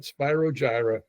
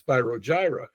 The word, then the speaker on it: Spyro Gyra: the genus term and the guy didn't pronounce it correctly. He said this is spyrogyra and it fit and they said hey let's go with that because it's it sounds so chill.